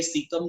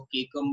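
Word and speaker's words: caecum: अभी ये सीकम जो वर्ड है ना, इसके अलग अलग प्रोनाउंसिएशन भी है, कुछ लोग इसको केकम भी बोलते हैं, वो भी करेक्ट है, सीकम भी बोला जाता है, वो भी करेक्ट है।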